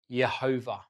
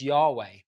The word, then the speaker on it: Yahweh: in Hebrew it was four letters pronounced Jehovah or sometimes as Yahweh in our English Bibles